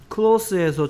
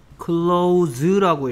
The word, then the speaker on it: close: 그래서 close 하면 형용사고요. close 하면 닫다라는 동사가 된다는 거 주의해 주시기 바라고요.